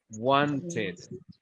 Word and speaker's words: wanted: Porque el verbo es want. Termina en T, wanted.